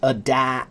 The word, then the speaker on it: adapt: Yes, adapt, This is why you should learn to sing. Adapt, adopt. Take those words, and when you sing the vowel, make it long.